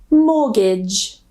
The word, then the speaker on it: mortgage: And this one here, I know it's not at the end, but it's still a French word. Mortgage.